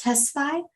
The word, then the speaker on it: Tesfaye: Michael, do I pronounce it Tesfaye?